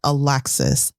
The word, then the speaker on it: Alexis: If I say Alexis, I'm not saying one syllable louder than the other, but that emphasis is clearly on the first syllable of Alexis, Alexis, Alexis, Alexis.